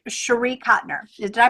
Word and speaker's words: Cotner: And her last name is Cotner, Cotner. So with the title, you'll probably be able to find it. But for sure to make sure you know it's hers, it's Cherie Cotner.